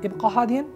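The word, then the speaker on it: ابقَ هادئًا: Ibqa hadin. Be quiet. Ibqa hadin. Ibqa, but qaf. I am not saying kaf. No. Ibqa. Ibqa hadin. Hadin. It's not ha. No. Hadin. Hadin. Hadin.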